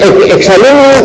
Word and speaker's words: exalumno: Sí, el exalumno, la pronunciación es como oxígeno.